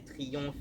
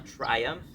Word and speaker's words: Triumph: On a quand même Triumph qui a été créé en 1884 ou 85 que les francophones vont prononcer Triomphe, mais en vrai, on dit bien Triumph en anglais.